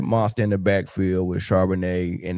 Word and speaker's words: Charbonnet: backfield with Charbonnet, and that might not even be how you say his name, but I want some wine. No, it's Charbonnet. It's Charbonnet and Kenneth Walker. Yeah. Yep. You said it right.